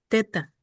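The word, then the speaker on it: theta: Y por supuesto, ya, pero sí se pronuncia así, teta con teta.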